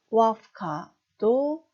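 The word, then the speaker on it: łapka: 자, 첫 번째 단어 와프카도 역행동화 무성음화 현상에 뒤에 크 때문에 유성음 무가 무성음 F 발음 납니다.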